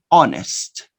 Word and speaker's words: honest: But there are a few words begin with the silent letter H. For example, hour, honest. And you don't pronounce, remember, you don't pronounce the letter H.